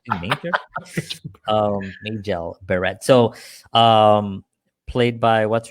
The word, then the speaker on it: Majel Barrett: Majel. It's Majel. Majel Barrett. Yeah, Majel. I was always Major. I thought they were calling her Major. I was like, Major. Majel Barrett.